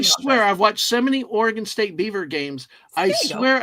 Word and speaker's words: Oregon: It's not pronounced Oregon. It's Oregon. Oregon. Like playing a piano. Organ.